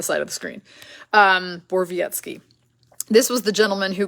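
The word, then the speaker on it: Borowiecki: say this guy's name because I've been saying boroweski because I thought that's what I heard someone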